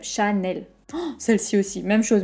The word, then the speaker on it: Chanel: l'achat mais elle même temps pour les deux syllabes chanel celle ci aussi même chose même jose mine